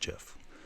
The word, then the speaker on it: GIF: And I do say GIF because the creator of GIF says it's pronounced GIF.